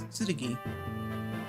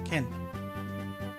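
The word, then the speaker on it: 剣: But they still pronounce, for Binding Blade, they pronounce it as Tsurugi. While for Blazing Blade, they pronounce it as Ken.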